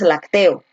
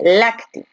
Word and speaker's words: lácteo: No dices lacteo, tú dices lácteo.